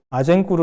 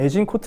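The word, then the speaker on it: Azincourt: 아젠구르 라는 곳 에서 . 영어 로 는 " 아이 신 코트 " 라고 발음 하지만 , 프랑스어 를 사용 하는 지역 입니다 . 그래서 아젠 구르라고 불립니다 .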